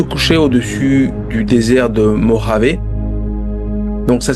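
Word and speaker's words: Mojave: Alors euh le 18 juillet 2022, le soleil se couchait au-dessus du désert de Moravé. Donc ça s'écrit, ça se dit Moravé, mais c'est ça s'écrit Mojavé.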